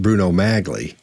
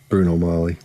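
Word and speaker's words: Bruno Magli: and a halfs um he knows it's not pronounced Bruno magley it's not pronounced that and in the circles he ran in somebody would have said dude don't don't don't say magley it's it's it's Bruno Molly so somebody would have hipped him to that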